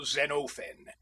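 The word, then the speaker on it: Xenophon: Usually I took the part of that distinguished general Zenofen. And please note the quantity of the O. I have all my classical names like that.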